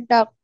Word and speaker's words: doctor: be a doctor. I will be a doctor. Doctor. I'll be a doctor. Doctor. Doctor. Doctor. Doctor. আরটা উচ্চারণ হবে না, আরটা উচ্চারণ হবে না, হ্যাঁ?